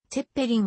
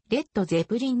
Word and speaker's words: Led Zeppelin: zepp もしくは led zepp なおテッペリンはドイツ語の発音であり英語の発音はレッドぜプリンに近いローリングストーンの選ぶ